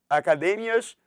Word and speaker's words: academias: Ele até diz aqui, ó, academias, cuidado, ó, academias em português é academia, a sílaba tônica está no mi, em espanhol é no d.